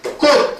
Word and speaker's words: 꽃: 자, 표기상으로 하면 꽃 이렇게 된단 말이야. 맞지? 그럼 발음하면 어떻게 되겠어? 발음하면 꽃 이렇게 발음되겠지. 그럼 발음이 치읓이 뭘로 발음되는 거야? 디귿으로 발음이 바뀌었다 이 말이야.